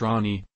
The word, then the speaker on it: Rani: on October 2nd the little one's name is pronounced Rani and CNN noted that the name honors her